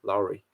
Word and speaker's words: Lowry: he would be nice larry is pronounced like the word dowry dowry lowry am i pronouncing it